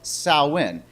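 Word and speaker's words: Samhain: party called the festival Festival of salwin and it's not spelled like that just so that you know it's built it's spelled differently it marks the end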